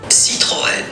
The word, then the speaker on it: Citroën: 可能应该是念什么 Citroën 吗？这个是汽车品牌。啊，怎么念？来，怎么念？ Citroën。